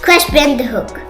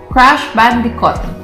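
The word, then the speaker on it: Crash Bandicoot: like Jacob from that crash band The Hook what again say it crash band The Hook crash band hook you said it wrong crash bandicot ah bandicot CR B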